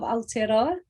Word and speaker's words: Aotearoa: of new zealand um aotearoa is actually the the real name of new zealand um or the the real name the maori name um and it can